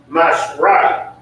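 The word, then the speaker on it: מעשר: You can find this in Numbers 18:21 and Malachi 3:8 and 10 means 10th in the Hebrew and is pronounced mashrai.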